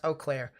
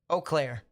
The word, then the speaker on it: Eau Claire: storm near kenyon is definitely something to watch pronounce eau claire appreciate it boss eau claire you can tell i am not from these